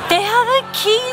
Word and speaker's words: Quay: I know it looks like it's spelled Quay, but it's Key Australia.